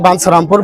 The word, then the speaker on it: বাঞ্ছারামপুর: সংযুক্তের মধ্যে সমস্যা হয়েছে, চ আর ছ উচ্চারণটা বা সংযুক্তটা হবে ছ, ইও সংযুক্ত ছ, তাহলে বাঞ্ছারামপুর বানামটা অফিসিয়ালি হয়ে যায়।